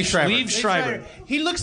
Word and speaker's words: Liev: Live? What is he? Pronounce his name. Liev Schreiber.